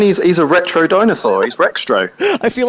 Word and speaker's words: Rextro: itself, but you've got Retrex, 64ist, Cardos, so I always listen to Kongversation and hear you guys just mispronounce his name. We honestly had such trouble with that one. He's Rextro. Oh, did we get it wrong again?